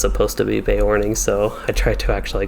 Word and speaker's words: Beorning: horning i always called the bae morning as beorning but i think it's supposed to be bay warning so i try to actually call it by